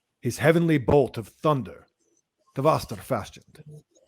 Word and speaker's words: Vṛtra: First of all, can you pronounce Vṛtra better for the audience? Vṛtra. Okay. Vṛtra.